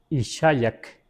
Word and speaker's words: Ixayac: Rostro se escribe Ixayac, I-X-A Yak, así, Ixayac.